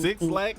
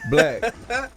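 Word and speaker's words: 6LACK: I was still trying to figure out how to pronounce six. Is it six black or the? Black.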